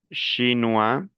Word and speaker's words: chinois: Shinua oi se pronuncia wa las finales no se pronuncian.